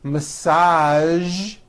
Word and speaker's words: massage: Now, there are only a few words that have the voiced zh sound at the end. A few of these words are the color beige, the word massage, and the word prestige.